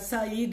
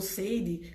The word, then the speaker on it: Said: Continua na página 58 esse texto, falando quem foi, Samuel Huntington, fala do Eduardo Said, ou Seide, como alguns pronunciam, que critica essa teoria,